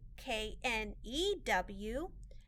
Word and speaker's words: knew: have a new pencil but there's also another word new k-n-e-w this word is i knew i forgot my books at home